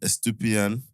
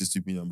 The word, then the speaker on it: Estupiñán: And then Estupiñán. I've been saying his name wrong, Estupiñán. There's another N. Yeah, Estupiñán.